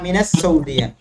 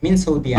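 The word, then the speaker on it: السعودية: আচ্ছা, এখানে যেমন সৌদিয়া, সেটা উচ্চারণটা হচ্ছে আনা মিনাস সৌদিয়া, মিনাস সৌদিয়া, মিন সৌদিয়া না, মিনাস সৌদিয়া।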